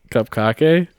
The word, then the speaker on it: Cupcake: No, I have not played I found out that's Cupcake. how it's pronounced. It's heard. Yes. Cup Kake? Yeah, That makes sense. It's 2 Ks.